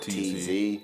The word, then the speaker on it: Tz: But like on IG, people don't pronounce it as T's. They pronounce it TZ. So everybody calls me TZ.